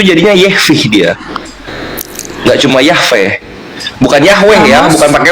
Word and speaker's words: Yahweh: Ramaton itu kan bisa dibunyikan bahwa memang Bapak Yod Hefa itu bacanya Yahwe loh.